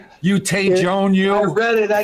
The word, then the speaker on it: Tejon: Now, if you're from Jersey, it's pronounced T-John. But the actual pronunciation is Tejon.